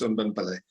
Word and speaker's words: Unben Pillay: So here is Unben, but you can correct me if I pronounce the name very well. Over to you, Doc. Thank you, Faustino. The pronunciation is perfect. It's Unben Pillay.